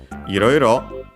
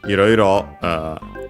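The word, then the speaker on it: いろいろ: Iroiro should be unaccented.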